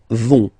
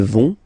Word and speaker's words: vont: Ils, elles vont. Ils vont. Elles vont. Okay, remember, final T not pronounced, so you get this ON nasal here. On, vont.